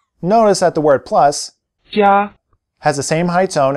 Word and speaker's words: 加: The E sound gets weakened at normal speed, but it's still there. Repeat 加, at normal speed now.